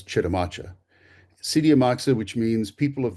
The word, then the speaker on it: Chitimacha: They looked upon that great lake, named it, and forevermore became Sitiamaxa, which is the origin of what we now pronounce as Chitimacha.